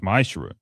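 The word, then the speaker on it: מעשר: It means 10th in Hebrew, and it's pronounced ma'ashra.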